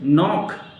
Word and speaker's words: knock: नॉक, KNOCK, के यहां drop करना है, NOCK से ही आपका उच्चारण हो रहा है, नॉक, राइट।